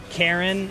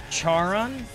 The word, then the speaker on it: Charon: to make this funny it's actually pronounced karen not charon it's pronounced karen well